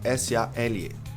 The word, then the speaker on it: sale: S a L e sale. Sale. Tem L. Sail para fazer o L, o som do L, a sua base da língua desce e a ponta da língua sobe.